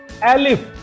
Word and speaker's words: elif: you can give you the another condition there using that elif, that is elif। Spelling ध्यान से देख लीजिए, that is elif, ELIF, elif।